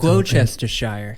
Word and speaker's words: Gloucestershire: It's not pronounced any way it looks. Gloucestershire.